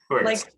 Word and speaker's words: Wurtz: Wurtz. Like Hertz, but with a W.